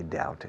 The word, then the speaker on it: doubt: Maybe someday I'll have enough money to buy the house of my dreams, but I doubt it. Doubt. Dudo, lo dudo. Y la B is mute in doubt.